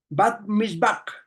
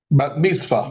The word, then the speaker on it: bat mitzvah: hecho, los judíos practican todavía algo llamado el Bat Mizbah. Pastor Fernando, ¿lo traduje bien? ¿Lo dije, lo pronuncié bien? Bat mitzvah.